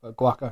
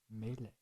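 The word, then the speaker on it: Guacamelee: question did you say pronounce that again guaca like guacamole like guacamole guaca only like Super Smash Brothers Melee melee okay whoa so it's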